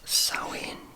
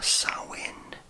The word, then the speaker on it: Samhain: So the ancient origins of Halloween are Samhain, which is pronounced as Samhain or Samhain. I would have always thought it was Samhain, but this is the festival of the end of the summer.